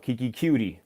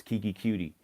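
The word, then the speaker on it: Keke Coutee: anywhere you got will fuller you got what keiki qt that's how you pronounce his name I don't even like saying it that way they don't sound right coming from man's voice Kiki cutie and then obviously DeAndre Hopkins you had those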